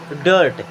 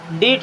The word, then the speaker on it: dirt: Then DIRT डर्ट, डीट नहीं पढ़ेंगे, डर्ट।